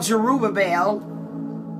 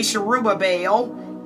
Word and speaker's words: Jerubbaal: Here we see that Gideon, who was called Jerubbaal, or you can say Sherubbaal, either way, you can pronounce it 2 ways.